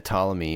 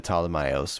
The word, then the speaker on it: Ptolemaios: The Ptolemy or the Ptolemaios, whichever one you prefer. Turns out you can pronounce it either way.